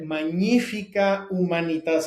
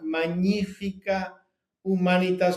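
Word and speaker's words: magnifica humanitas: primera encíclica llamada eh magnífica humanitad. Quiero repetirles este nombre porque todo el mundo lo pronuncia mal en castellano. El nombre es latino y se pronuncia magnífica humanitas.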